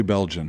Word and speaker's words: Beljan: in how do you say your name Belgian Belgian tell people your Instagram and stuff